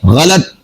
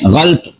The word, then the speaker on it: غلط: لفظ غلط ہے، لفظ۔ اور لفظ ہے غلط، لام کے اوپر زبر ہے، ہم بول دیتے ہیں غلط۔ اور بھی کئی سارے